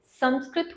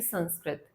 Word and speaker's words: संस्कृत: संस्कृत होता है न कि संस्कृत, क्योंकि इसमें सम उपसर्ग लगता है, इसलिए इसका उच्चारण संस्कृत के स्वरूप में होता है।